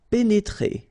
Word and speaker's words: pénétrer: pénétrer. Okay, remember here, accent aigu and then accent aigu. So you pronounce it E.